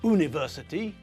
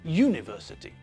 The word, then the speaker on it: university: an hour with university uniform and European we pronounce all these words with a year sound at the front it's not university it's university it's not uniform but uniform and it's not